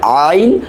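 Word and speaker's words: ع: সেটা হচ্ছে আইন হা।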